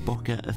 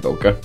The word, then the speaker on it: bokeh: It comes from the Japanese word spelt boke, B-O-K-E, meaning haze, but the H was added in to help English speakers pronounce it correctly.